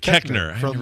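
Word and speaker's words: Koechner: oh here it is David kochner or cochner have you say his name uh oh David keckner Anchorman and uh yeah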